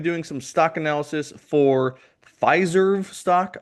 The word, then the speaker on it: Fiserv: some stock analysis for Fizerve stock. I guess that's how you say it. It sounds too much like Fizer to me. So I don't really like it, but I guess it's called Fizerve.